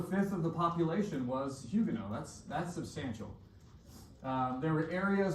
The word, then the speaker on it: Huguenot: French Protestants, for some reason, are called Huguenots. So that word right there is pronounced Huguenot.